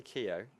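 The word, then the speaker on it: Keogh: um knots lineup and Rob is it Kyo is the right what's the right pronunciation oh yeah I say Keo yeah based on that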